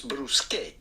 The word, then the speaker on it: bruschette: Now, in plural version, Oh, gosh. in Italian, an S, but No. transform the A at the forms bruschette. Several bruschettas, well, you would know bruschette. Bruschette.